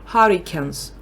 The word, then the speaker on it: hurricane: Там cane, а там can читають.